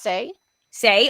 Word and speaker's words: Sai: I am very sorry I think it's pronounced say say okay thank you but